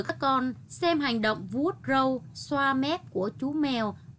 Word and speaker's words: vuốt râu: Khi đọc từ vuốt râu, lưu ý đọc tròn môi. Đầu lưỡi đặt giữa hai hàm răng khép lại ở tiếng vuốt. Đọc đúng âm R ở tiếng râu.